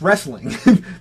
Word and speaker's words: wrestling: It's wrestling. There is no A in the word wrestling.